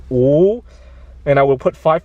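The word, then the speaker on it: 五: minutes now in chinese the number five is pronounced ooh and i will put five fingers up and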